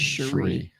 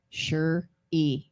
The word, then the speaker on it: Cherie: I will say them the right pronunciation of my name is Cherie sure e sure e sure sure e sure